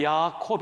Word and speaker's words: 야곱: 했는데 야구의 뜻이 뭡니까 히브리 말로 그대로 발음하면 야콥 입니다 야코 팔꿈치를 꽉 잡다